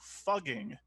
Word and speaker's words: Fugging: name officially changed to Fugging, but pronounced the same as fucking, effective January 1st, 2021.